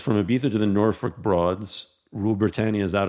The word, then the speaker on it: Norfolk: Yeah, so the Norfolk Broads, Norfolk is, or as you would say in America, Norfolk, it's actually Norfolk. so just putting it out there, the correct pronunciation.